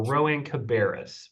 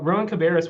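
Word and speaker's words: Rowan-Cabarrus: r CC Linda you did a great job pronouncing our name we're we're Rowan cabis very very close um and Ro Rowan cabis when when we think about uh the future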